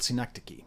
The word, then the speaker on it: synecdoche: But there's a particular form of metonymy called synecdoche, Synecdoche.